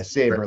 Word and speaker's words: Sabre: right winded laughing yeah savor like like the sword yeah they're not when